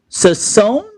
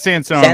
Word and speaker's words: Sansone: Sassone. Is that how you say it? It's Sansone.